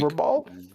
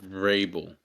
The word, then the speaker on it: Vrabel: yeah, How did she pronounce it? Mike Verbal? Vrabel.